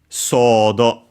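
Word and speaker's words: ソード: Sodo. Again, we see the long vowel mark, and so it's a long O of the first one, sodo.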